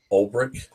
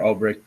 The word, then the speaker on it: Ulbricht: A Silk Road founder, Ross, how do you pronounce his last name? Ulbricht.